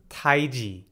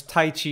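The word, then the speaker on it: 太极: to be pronounced as taiji taiji is the correct mandarin chinese pronunciation unfortunately in the west oftentimes tai chi is what we were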